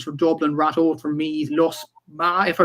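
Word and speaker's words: Lusmagh: In the Leinster Intermediate Hurling Championship quarterfinals, Commercials from Dublin, Ratode from Meath, Lusma, if I pronounce that correctly, Liam, from Offaly. Lusma, yeah.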